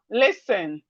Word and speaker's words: listen: When you want to pronounce this word, don't pronounce the T.